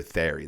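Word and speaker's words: Thierry: It ends up being about this guy named Terry, or Thery. That's like how you pronounce his name.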